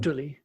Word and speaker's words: Gutuli: How is it said? Gutuli. Gutuli. Okay. And so the Gutulinese are the people of the Gutuli. Okay. I wasn't sure. Where the emphasis really was going to sit.